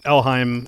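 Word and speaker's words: Elhaym: parents called me Ellie elim alheim okay alheim is is the pronunciation of that name um elim yeah so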